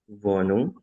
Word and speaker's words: Wohnung: W dibaca V. Vum. Ya, jadi W tidak dibaca W. Kalau masih terdengar W masih salah dibacanya V. Very very itu ya. Ha di tengah kata tidak dibaca jadi bukan ya. Ha di tengah tidak dibaca vonung ya.